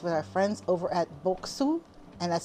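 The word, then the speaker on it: Boksu: And we hope you'll continue to explore new flavors, experiences, and discoveries with our friends over at Boku, and that's spelled B O K S U, and Sugoi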